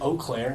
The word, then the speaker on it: Eau Claire: And is it Eau Claire?